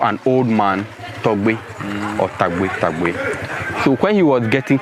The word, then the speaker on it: Tagbo: If you come and you cannot pronounce it, why should we change it for them? So technically, it's Tagbo Falls. It's Tagbo Falls. Grandfather. No. Also, people call it Togbe.